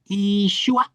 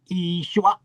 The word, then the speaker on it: Yeshua: Yeshua. And in Hebrew they just don't uh make the yod a vowel, but it is in Aramaic. They say Yeshua. But Yeshua. Okay, so it's Yeshua.